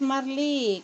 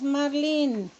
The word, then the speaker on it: marlín: chicas voy a echar el Marlin es Marley cómo te dije que era hago no Ah Es Marlín Ay Cómo se dice